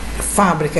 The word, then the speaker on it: fábrica: muda de lugar aí então é a fábrica é uma proparoxítona e fabrica é uma paroxítona continuando aqui com a